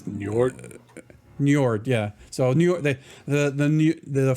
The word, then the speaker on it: Njord: It's Njord.